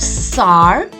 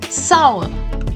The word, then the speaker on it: sour: it once more sour the r will be silent and the pronunciation of oh you will be saw it is not SAR and it is not Soul it is sour say it once more